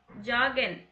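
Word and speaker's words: joggen: ஜாகன். முசிக் ஹோரன். இது ஜே வந்து நான் மோஸ்ட்லி வை ப்ரொனவுன்ஸ் பண்ண சொல்லியிருப்பேன். ஆனால் இங்கே வந்து நான் ஜாகன் அப்படின்னு தான் சொல்லியிருக்கேன்.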